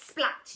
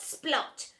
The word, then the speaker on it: Splat: "It's Splat, not Splot.